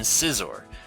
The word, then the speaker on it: Scizor: we're looking at scythe or insight they're good pronunciation Scyther and Scizor if you are one of those pronunciation people